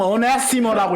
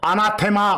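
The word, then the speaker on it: ἀνάθεμα: 뭐 영어식으로 읽으면 어네시머라고 읽습니다만, 그냥 올레식으로 아람어식으로 아나테마 그랬어.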